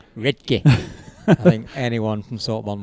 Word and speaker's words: Redcar: Right, okay, because it's not pronounced Redcar, is it? No, it's pronounced Redke.